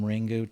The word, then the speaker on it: Ringu: I mean, ringu is just the Japanese pronunciation of of a ring, right?